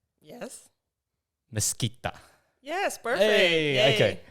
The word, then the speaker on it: Mesquita: So I was just trying to get this pronunciation right, but it's Yes. Mesquita.